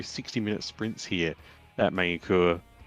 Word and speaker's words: Magny-Cours: minute sprints here at main cour or mangy kurz as some people like to pronounce it to annoy french people that's right yeah actually